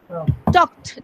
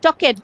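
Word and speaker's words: talked: Ma'am third one, চক উচ্চারণ টক করো। টকড, যেমন ধরো আমরা যদি টকটা টক উচ্চারণ করি, আমরা কিন্তু এভাবে বলি না টকড, নো। টকেড, নো।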